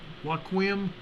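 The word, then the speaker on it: Hoquiam: H-O-Q-U-I-A-M. H-O-Q-U-I-A-M, Washington. Waukegan, Washington. A 2.6 earthquake.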